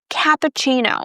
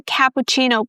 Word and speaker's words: cappuccino: And then since this is an Italian word, the double C is pronounced as the ch sound, so cappuccino.